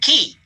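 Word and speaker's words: Ky: and you spell that n-g-u-y-e-n and you that's pronounced win even though it says ng win and then cal c-a-o and then key k-y okay thank you uh i have a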